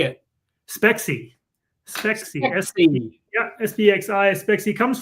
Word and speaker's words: Spexi: Spexi.